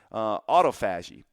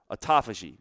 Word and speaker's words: autophagy: One of the other things that happens that's highly beneficial during fasting is autophagy or autophagy, however your chosen pronunciation is.